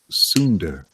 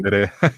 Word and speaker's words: tsundere: Andrew Tan says, Edwin, tell Mike to stop being so sundar. Or is it sundari? Tsundere. Yeah, tsundere.